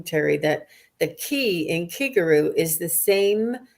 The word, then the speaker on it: Kigaru: that the key in kiguru is the same syllable as the key in Reiki it means spirit and